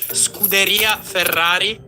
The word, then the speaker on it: Scuderia Ferrari: Today, we're diving into a fascinating conversation with Stefano Palumbo, head of fan development for Scuderia Ferrari HP. Your pronunciation is is strongly American. It's more Scuderia Ferrari.